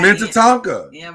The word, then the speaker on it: Minnetonka: i looked it up it's like minneapolis like it's mint tonka people been pronouncing it wrong for years now what memories come